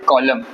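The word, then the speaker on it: column: ठीक उसके बाद है कॉलम कॉलम बनाते हम लोग लिखते व कॉलम कॉलम नहीं बोला जाता है कॉलम बोला जाता कॉलम खत्म ऑटम खत्म सीजन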